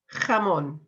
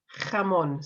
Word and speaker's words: jamón: So, first of all, jamón. Jamón. So we've got that jota sound at the beginning there.